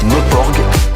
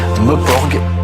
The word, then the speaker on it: Meuporg: Meporg, à se goinfrer des Meporg, souvent des jeunes qui passent leur journée derrière un Meporg.